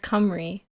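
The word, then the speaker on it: Cymru: The Welsh word for Wales is sim. What is that? Simu pronounced camry.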